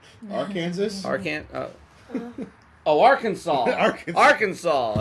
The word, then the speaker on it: Arkansas: did you know that it is illegal to mispronounce the name of the state R Kansas R Kansas ar oh Arkansas Arkansas it's yes illegal to mispronounce the name